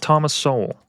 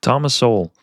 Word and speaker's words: Thomas Sowell: Or how about Thomas Sowell? Another amazing black person. No, not the neo-Nazi. Hold on. The black guy. Oh, I mispronounced his name. So misspelled his name. Thomas Sowell.